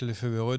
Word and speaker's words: Lefevere: On va donc parler des propos de Patrick Lefevereux, donc qui s'est penché dans. Déjà, point prononciation, Olivier, on est sûr de Lefevereux ?